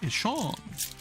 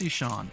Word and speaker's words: Etienne: Or, as you know, he's from Jennings, Louisiana, and they pronounce it Eshon. Travis Eshon.